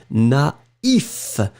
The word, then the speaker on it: naïf: But if you put the tréma, then it means that you will have to pronounce first A, na, and then separately you will pronounce the I. Naïf.